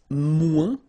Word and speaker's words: moins: Then if you want to say less, it's moins in French, so no discussion about the S here, don't pronounce it, okay?